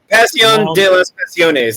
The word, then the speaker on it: Pasión de las Pasiones: Pasión de las Pasiones.